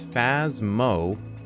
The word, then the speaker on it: Phasmophobia: can somebody spell it is it fasmaphobia or phasmophobia is like phasmophobia so it's fazmo okay that's probably let's go